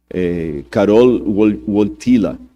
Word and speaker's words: Karol Wojtyła: E o Karol Wojtyła, esses dias eu pedi a alguém que fala polonês para me corrigir a pronúncia, Karol Wojtyła, que era o nome do Papa, ele sofreu muito na mão do comunismo na época da Polônia.